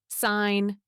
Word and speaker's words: sign: Sign, signal, signature. The G is silent in sign but pronounced in the others.